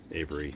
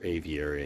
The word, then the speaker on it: aviary: little bird avery here avery so or aviary i think is the right way to say it but hey so these